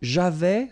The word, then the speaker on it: j'avais: So, j'avais, final S not pronounced.